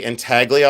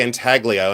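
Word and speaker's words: intaglio: And I say inagio. I say it with a hard G because I'm from a cornfield in Ohio.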